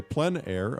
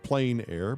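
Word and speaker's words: plein air: to mean painting Outdoors the French say plen air others say plain air but no matter how you say it it's a big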